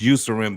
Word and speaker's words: Eucerin: It's pronounced Eucerin, but it's spelled with an E. It's called Eucerin.